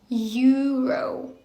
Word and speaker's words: Euro: буде читатися як eurвро це буде читатися як Euro Euro наче знаєте якийсь Юра який торгує євро от запам'ятовате Euro одне